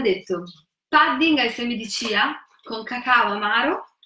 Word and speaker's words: chia: Infatti, il loro nome Chia. Erroneamente moltissime persone li chiamano semi di chia perché è scritto Chia, ma in realtà si legge chia.